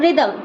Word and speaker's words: rhythm: RHYTHM रिदम, रिदम मतलब ताल।